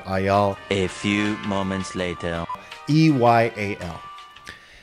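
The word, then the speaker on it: Eyal: i think that is i pronounce his name by the way it's just the last name ayal or ayal a few moments later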